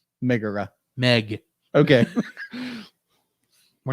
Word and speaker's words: Megara: It's pronounced Megara. Megara.